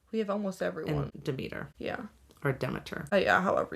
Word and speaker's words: Demeter: Or Demeter.